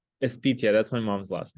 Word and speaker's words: Espitia: It's How do you spell it? How do you say your last name? Espitia. That's my mom's last name. Espitia.